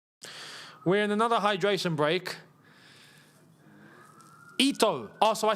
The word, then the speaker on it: Ito: Ito. Oh, so I said it right the first time. I got told it was Aito. Okay, it's Ito then.